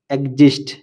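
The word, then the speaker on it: exist: example example E এক্স a city এক্স্যাক্ট এক্স্যাক্ট ই এক্স আই এসটি এক্সজিস্ট এক্সজিস্ট আশা করি ভিডিওটি আপনাদের এক্স অক্ষটির উচ্চারণ বুঝতে সাহায্য করেছে নিয়মিত অনুশীলন করলে আপনিও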